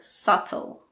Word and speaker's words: subtle: There are also a few words in which the B is silent before the letter T. These words are debt, doubt, and subtle.